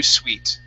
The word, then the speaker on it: suite: Instead of interviewer suit, this is interview suite.